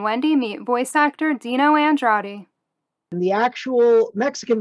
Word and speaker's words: Andrade: panel Nikki and Wendy meet voice actor Dino Andra and the actual Mexican pronunciation is andrad so let's talk about your career how did